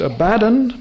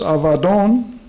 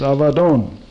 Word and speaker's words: Abaddon: just in the new is what is commonly pronounced abaddon but it's avadon a b a d d double d o n usually mispronounced abaddon but it's avadon that is if you're in the old testament